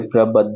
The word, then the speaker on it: प्रबद्ध: फिर प्रबद्ध, प्रब द और ध जो मैंने आपको बताया था कि ऊपर द लिखा है नीचे ध लिखा है, तो आप इसको प्रबद्ध पढ़ेंगे, दोनों का उच्चारण होना चाहिए।